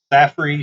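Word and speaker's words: Saffir: i'm pronouncing that correct s-a-f-f-i-r saf saffrey simpson's hurricane skill uh category 1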